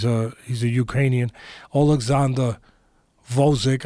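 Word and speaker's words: Gvozdyk: he's a Ukrainian Alexander vozack I learned that you don't pronounce the G it's vozack but it starts with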